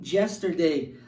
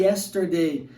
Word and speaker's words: yesterday: a letra y e a tendência é dessas pessoas pronunciarem jester dei dificilmente elas conseguem falar e yesterday interessante isso né muito